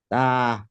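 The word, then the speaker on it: تاء: আলিফ জি বা জি তা আরেকটু লম্বা করেন তা জি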